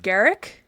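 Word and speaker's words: Garak: M Garrick like Derek.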